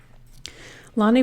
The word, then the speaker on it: Lani: that's the way people need to remember it Lonnie pronounce his name Lonnie that's weird to read out